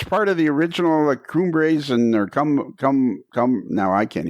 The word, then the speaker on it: Cumbres: It was what did you say, Cumbers? Am I saying it wrong? The Cumbres. Cumbres.